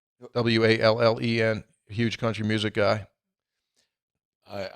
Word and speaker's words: Wallen: to the Morgan Wallen is it am I pronouncing that right Wallen w-a-l-l-e-n huge country music guy I I'm not I'm